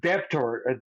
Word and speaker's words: debtor: I forget that the B is silent. Yeah. So I would say a debtor, the debtor, the person that owes the mortgage loan.